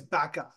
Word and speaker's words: Baqa: It was butterflies Baqa. That's how I pronounce it, right?